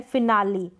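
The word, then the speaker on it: finale: जैसे यहाँ पर है फिनाली, क्या है, फिनाली, यानी ई का यहाँ पर ई के रूप में प्रोनाउंसिएशन हो रहा है।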